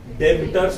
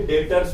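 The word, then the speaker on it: debtors: ठीक है पढ़ेंगे कैसा देबटोर्स नहीं पढ़ेंगे ठीक है बी साइलेंट कर देंगे डरेटर्स पढ़ेंगे ठीक है और क्रेडिटर ठीक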